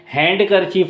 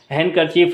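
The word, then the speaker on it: handkerchief: पर खामोश है और यहां पर डी भी खामोश है हैंड कर चीफ होना चाहिए वेडनेसडे होना चाहिए सैंडविच होना चाहिए नहीं यहां पर इसके डी खामोश होने की वजह से हैंड करर चीफ है वेनस डे और सैंडविच हो जाता है यहां पर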